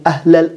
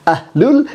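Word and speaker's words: أهل: bilang sendiri membacanya waliyakum ahlal Injil Ahlul dibaca ahlal Apakah ini akan berimbas kepada sedih makna jelas bahkan akan tentara sekali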